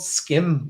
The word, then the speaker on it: Schim: So there's a game called Skim, which it's spelled SCHIM, and it's a game where you essentially have to traverse shadows.